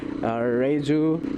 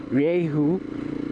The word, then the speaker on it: Rieju: we directly pronounce it Rieju. It's a company from Spain, so in Spanish usually the letter J is pronounced with an H, so it's actually Rieju, which sounds a lot cooler.